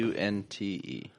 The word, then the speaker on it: LeConte: Number 3, Mount LeConte. Mount LeConte is a mountain that has, I hiked it in 2012 when I was skinny. LeConte. Yes. LeConte. Not how you want to spell it. Cunte.